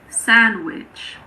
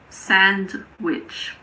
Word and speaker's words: sandwich: Sandwich. It's not sandwich.